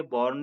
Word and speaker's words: borne: यहाँ ये डिफरेंस है, प्रोनाउंसिएशन दोनों का एक ही है, बॉर्न ही होगा, लेकिन बियर मीन्स जन्म देना और बियर मीन्स सहन करना, इनकी फर्स्ट और सेकंड फॉर्म एक जैसी है।